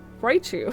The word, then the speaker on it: Raichu: I'm being bullied for my pronunciation of things. How to say Raichu? Raichu!